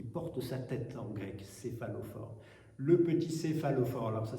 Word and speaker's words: céphalophore: C'est Saint Denis, vous savez, c'est celui qui porte sa tête en grec, céphalophore. Le petit céphalophore, alors ça s'écrit avec un peu compliqué, C-E-P-H-A-L-O-P-H-O-R-E.